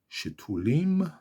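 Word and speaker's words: שתולים: Yisge, Ke'erez, Balvanon Yisge, Shetulim, Shetulim, 3 syllables, Shetulim, Shetulim, Bevet, Bevet, Bevet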